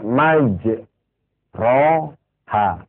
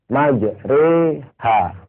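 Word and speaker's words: مَجْرٜىٰهَا: yang berbahagia di Quran tulisannya maj ro ha tapi tidak boleh dibaca majro ha harus dibaca majri ha ya kak kita bilang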